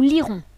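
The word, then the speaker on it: lierons: attacher c'est vrai que lorsque vous prononcz du coup ce verbe au futur avec nous ça se prononce de la même manière que le verbe lire au futur nous lirons à l'oreille rien ne vous indique qu'il y a le E ici vu qu'il est dit muet le verbe bâtir on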